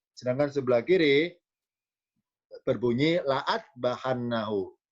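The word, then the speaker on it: لَأَاذْبَحَنَّهُ: Jadi tulisan lam alif yang sebelah kiri la'a, dibaca la'a, sedangkan lam alif yang sebelah kanan bacanya la'u. Lamnya fathah, hamzanya miring ini adalah dibaca doma, la'u'adzibannahu. Sedangkan yang kiri bukan la'u tapi la'a, la'adbahannahu.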